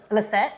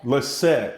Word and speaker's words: Liseht: Liseht. Liseht. Okay. Why do I put an H in there? Because it is an H, but the H is silent.